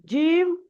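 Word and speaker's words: ج: মঞ্জিল হাসান ভাই ঠেকছে তো জীবটা আচ্ছা উচ্চারণ করেন কাফ বলেন কাফ কাফ তারপরে দেখেন কি আছে এখানে? জিম, শিন এবং ইয়া কি আছে?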